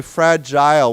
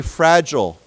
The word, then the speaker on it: fragile: Some people say fragile with an I sound, and some people say fragile.